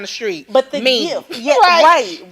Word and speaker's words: GIF: And not a gift, G-I-F-T, but G-I-F. Just GIF. by itself. Yes. GIF. That's how you pronounce that.